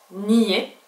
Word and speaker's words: NIE: le N I e en espagnol on le prononce nier puisque ce sont les lettres aé I et et